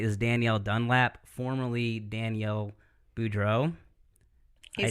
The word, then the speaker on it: Boudreau: So the guest tonight is Danielle Dunlap, formerly Danielle Boudreau.